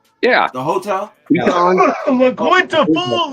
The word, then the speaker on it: La Quinta: Yeah, so next year it's gonna be like Quinton.